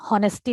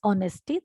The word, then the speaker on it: honesty: And beta हम honesty नहीं pronounce करते हैं. It is honesty. The H is silent here.